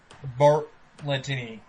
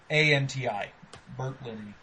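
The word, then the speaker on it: Berlanti: It's going to be directed by the producer of Arrow, Greg Bartlettini. And, Greg Bartlettini? Yeah, I don't know how to pronounce his last name. B-E-R-L-A-N-T-I. Bartlettini.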